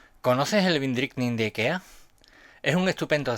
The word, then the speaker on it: Vindriktning: a llamar Vin, y si tienes curiosidad por saber cómo se dice en sueco, aquí te lo pongo. Vindrickning, vindrickning, vindrickning.